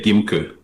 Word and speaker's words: Nguimkeu: Uh Gim, that's the way it is pronounced.